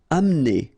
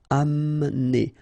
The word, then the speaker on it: amener: Amener. Don't insist on the E here because you don't really pronounce it. Amener.